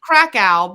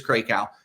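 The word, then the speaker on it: Krakow: I gotta say we have always pronounced her name wrong cow no it's Crow I know but I like krackow because that's how you say Brian CRA out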